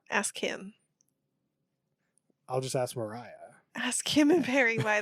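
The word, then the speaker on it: Moriah: got Maria Maria Maria Mariah dude it's spelled m o r i a how do you announce that but it's Mariah mar mar Mariah Mariah where why is there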